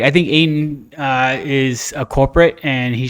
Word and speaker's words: Ayton: Does it rhyme with PA? PA? Yeah. No. So it's not DeAndre Ayton? It is Ayton.